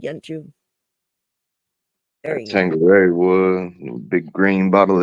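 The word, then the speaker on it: Tanqueray: Tangeray is how you say it.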